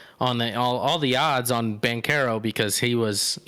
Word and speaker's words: Banchero: Is it Banchero? It's Banchero, technically, with it, the way he pronounces it.